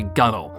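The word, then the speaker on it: gunwale: It's also really terrible to pronounce if you don't know that it's called a gunnel. Like, how am I supposed to know that that's gunnel?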